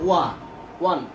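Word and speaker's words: one: আর এখানে ও উচ্চারণটা হয়েছে ও, কিন্তু উচ্চারণ আমরা করতেছি ওয়ান ও। এটা কিন্তু ওন করি না, আমরা পরে কিন্তু ওয়ান।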